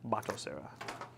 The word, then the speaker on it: Batocera: It's spelled Batocera, but it's said bot. Batocera.